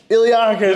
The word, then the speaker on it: iliacus: We're doing the Iliacus. Iliacus. You got there. Nearly. What's funny about Iliacus, Ninja? It rhymes with Mark.